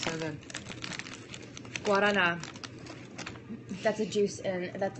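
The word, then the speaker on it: guaraná: Guarana. That's a juice in. That's like a, like a Red Bull version Guarana. Of Brazil. Guarana. You want to say it like that. Hello. I want a guarana.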